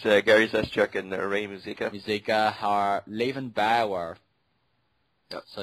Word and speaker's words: Muzika: That was announced that the co-founders of Bioware, Ray Zika. yeah, you can basically, because they're Canadian guys, you know how to pronounce it. I basically butcher the fucking line. Yeah, it's Gary Zeschuk and Ray Muzika are leaving Bioware.